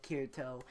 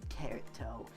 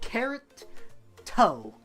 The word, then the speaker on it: Kirito: I almost said Kirito. What the heck? I literally almost said carrot toe. Like a carrot and a toe.